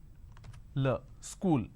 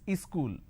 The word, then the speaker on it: school: to america for example the word which is school there are two syllables school but in in places like up bihar jharkhand they add another syllable they pronounce this as ischool wherever there is a